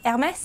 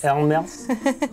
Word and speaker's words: Hermès: Deborah has got this thing about pronouncing that handbag brand that begins with an H. Hermès. How's it said? Hermès. Hermès.